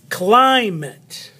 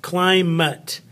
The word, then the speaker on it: climate: Jacket, edit, climate. No, this is an it or an et. This is an it. This is an ut. Climate. Sometimes we say climate.